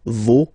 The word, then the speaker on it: vos: Okay, so remember, even if you've got this final S, you don't pronounce it, as it was the case already for this word, no, you don't pronounce the final S, vos, you don't pronounce it, leur.